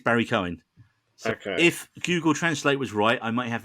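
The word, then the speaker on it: Barry Keoghan: pronounce Barry Cohen because we always thought it was Barry K again and apparently it's Barry Cohen okay if Google translate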